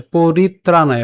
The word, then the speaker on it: পরিত্রাণায়: পরিত্রাণায়, পরিত্রাণায়, ঠিক আছে, পরিত্রাণায়, এখানে তয় রফলা আছে। সো আমরা পরি সাথে আমরা তকে নিয়ে যেতে পারি, তাহলে পরিত, ঠিক আছে, অথবা দরকার নেই এটা এত কষ্ট করে ভাঙানো, সরাসরি আমরা উচ্চারণ করব পরিত্রাণায়, ত্রা, ঠিক আছে, আমরা ত্রাণ বলি না, সো এখান থেকে পরিত্রাণ,